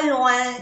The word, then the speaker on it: loin: Loin. O-I-N. Loin. Loin. Es otra vocal nasal.